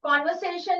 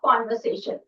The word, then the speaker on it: conversation: And here, this is the pronunciation for conversation. Never say conversation or conversation. It is wrong. It is con. Okay. So con, that's why it is in capital letters, because it puts a stress there.